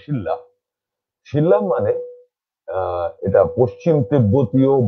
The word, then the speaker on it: Shilla: সেটা হচ্ছে শিলা, কথাটা আমরা শিলা বলি কিন্তু ওরা আসলে উচ্চারণটা শিল্লা।